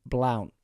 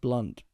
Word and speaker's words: Blount: say your second name Blount is that how you say it it's pronounced blunt I think Blount is